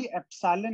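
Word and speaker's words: epsilon: This is 1/4 पाई एप्सिलॉन नॉट Q1 Q2 by R।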